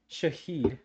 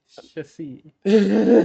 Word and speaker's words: Shahid: It's like it is it is pronounced Shahid. Shahid. Like shithead. Shithead.